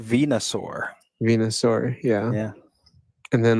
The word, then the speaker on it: Venusaur: It's pronounced Venusaur.